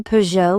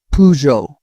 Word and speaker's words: Peugeot: I've heard people say Peugeot with a hard T. In French, it's Peugeot without the final consonant.